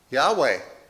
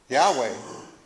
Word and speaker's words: Yahweh: How do you say that, Chris? Yahweh. Yahweh.